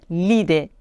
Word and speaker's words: l'idée: on doit dire l'ami là il est difficile à prononcer on doit dire l'idée l'ami l'idée donc si